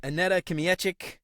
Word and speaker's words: Aneta Kmiecik: today I am really excited about I met Anette kic did I pronounce that right by the way yes it